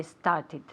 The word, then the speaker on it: started: Yesterday I started. Very good. Started, okay? Con una sílaba aparte, okay?